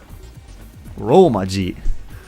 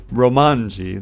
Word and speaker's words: romaji: people don't know that it's not with an n because they think kanji and they think oh romanji they think it's like a rhyming thing but it's not it's